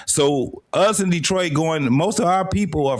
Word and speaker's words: Detroit: We got them in Detroit. You got to understand, Detroit is actually pronounced Detroit. Detroit. It's a French thing.